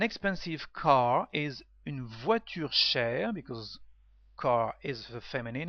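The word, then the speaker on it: cher: e r like share share has two meanings in English expensive and dear so share is the masculine form with the same pronunciation is share but with a grab accent and a final e Dear Peter is share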